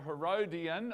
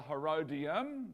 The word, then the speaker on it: Herodium: Uh, one of those fortresses was actually built near Bethlehem and it's called the Herodian or the Herodium. Both pronunciations are used.